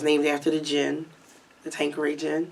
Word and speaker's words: Tanqueray: I was named after the gin, the Tanqueray gin.